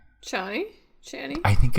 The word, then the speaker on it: Chani: It's Chani. Chani? I think it's Chani. Like it's supposed to be like Annie with a ch, because it looks like Chani.